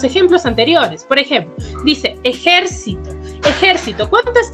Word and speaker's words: ejército: Por ejemplo, dice ejército. Ejército, ¿cuántas sílabas tiene? Tiene ejército. Tiene 4 sílabas, ¿no es así? ¿Y cuál es la sílaba tónica de esta palabra, de esta primera? Es la jer.